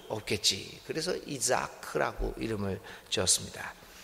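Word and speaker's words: יצחק: 원래 이 발음이 이삭이 아닌 이자크죠. 이자크라고 하는데 이 자하크라는 말이 웃다라는 말입니다.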